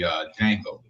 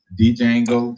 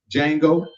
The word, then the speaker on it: Django: working on a movie, Django. Mm-hmm. He kept calling it Django. I want to go back. Like, if you don't stop putting that goddamn D. The D is silent. Like the K in knife.